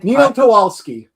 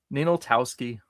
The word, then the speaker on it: Ninaltowski: Ninaltowski.